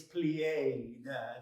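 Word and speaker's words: plié: plain what's that apply it's plied two syllables oh odd name for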